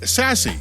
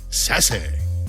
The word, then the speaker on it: SASE: Pronounced SASE, or as I like to call it, SASE.